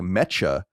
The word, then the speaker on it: Mecha: the first word as mecha, like I just did. In fact, this is a Japanese colloquial word that is pronounced closer to mecha, meaning super, really, or incredibly.